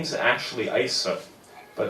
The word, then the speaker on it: Aise: my name is Ashley eisah but it's perfectly understandable for one person to forget how to pronounce another person's name you know I've heard my name being pronounced I see and she said yeah